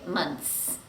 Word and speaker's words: months: The next one is months, 2 months, 3 months. We don't pronounce the th sound because it's too difficult to say months. So we just drop it and we say months, months.